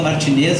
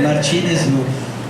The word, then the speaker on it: Martínez: De tão generosa que ela é, todo mundo fala Martinez e ela nunca corrige ninguém, né? E é Martínez, eu fiquei sabendo também